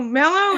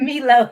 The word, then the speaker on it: Mello: Did I say her name wrong? Mello. Oh, Mello is. I said Milo.